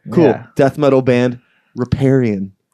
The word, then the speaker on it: Riparian: Death metal band, Riparian or Riparian, Riparian. What have you heard? what mispronunciations of your band name have you heard so far? Those are the main two right there, I think. Riparian is the one. Riparian? That we get the Yeah.